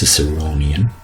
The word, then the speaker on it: Ciceronian: the um phic transcription you can see that the stress is on the third syllable so it's ciceronian okay um and that's